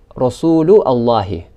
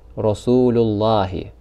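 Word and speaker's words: رسول الله: We wouldn't say Rasulu Allahi, but rather we would say Rasulullahi or Kitabullahi.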